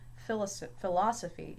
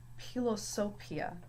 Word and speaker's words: philosophia: Similarly, PH, also from our Greek origins. So it's again going to have the p sound, not a f sound. So it's not philosophy, it's philosophia.